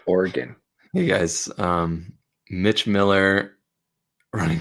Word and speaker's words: Oregon: need to make sure you say it right Oregon you guys Mitch Miller running for president right